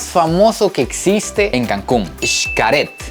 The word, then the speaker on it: Xcaret: que existe en Cancún sharet me dijeron que así es como se pronunciaba resulta que es un